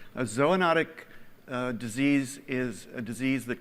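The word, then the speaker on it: zoonotic: pronounced it for me so a notic ZOA notic and that is pointing toward a really big idea that you're exploring here which is right as o notic disease is a disease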